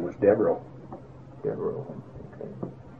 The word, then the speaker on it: Devereaux: Devereaux. Okay. How do you spell that?